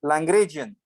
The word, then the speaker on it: Lagrangian: Lagrangian.